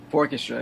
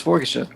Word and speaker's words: Fourchestra: I don't know why, always with the accent on the wrong syllable. I've been saying Fourchestra rather than Fourchestra. It's not wrong. Because people from different, like a lot of times people from Trinidad, they also say Fourchestra.